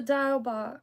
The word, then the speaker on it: Diawl Bach: I appreciate that so dial Bo so just like pronounced like dial okay dial um sometimes if I